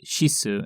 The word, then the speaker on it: cis: by the handle name of cis pronounced shisu in japanese a reference to his